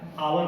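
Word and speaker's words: hour: उसी तरह से आवर, हावर आपने लिखा है, आवर पढ़ रहे हैं, इसके पूर्व भी एन का प्रयोग होगा।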